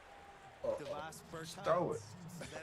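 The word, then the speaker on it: Dāvis Bertāns: Oh, well, now at this point in my life, it's Davos Bertans. throw it. Is that how you say his name? Yeah. Davis Bertans.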